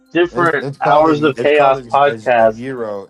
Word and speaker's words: gyro: at them I'm like do not ever ever call it a gyro and they're like why I was like cuz I am Greek it's pronounced Euro yeah like Euro my my last name